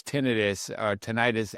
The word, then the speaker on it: tinnitus: this and feel this tinnitus, I believe it's the pronunciation I'll use from here on in, understanding that both work, is tinnitus.